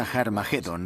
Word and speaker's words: Armagedón: De hecho, en las primeras versiones del Nuevo Testamento escritas en griego, Armagedón tiene una aspirada al principio, que significa que se pronuncia con H inicial. Por tanto, originariamente era Har Magedón y podemos pasar de Har Megido a Armagedón muy fácilmente.